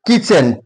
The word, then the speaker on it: kitchen: Similarly kitchen is silent here.